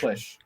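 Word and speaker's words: Klisch: I should have asked how to say the last name klish klish big just like it looks okay hey hey I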